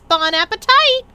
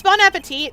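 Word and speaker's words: bon appétit: There's no E at the end of that, so you don't pronounce the T because it's French.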